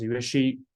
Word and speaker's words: Yueqi: So if you take Q as SH, that will be very close. You can pronounce it as Yueqi, or anyway, but I will take it.